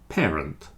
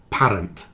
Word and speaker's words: parent: make parent parent parent parent not parent pair it's more like pair parent parent near and